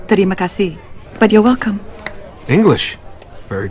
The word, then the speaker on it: terima kasih: Actually, it's pronounced terima kasih.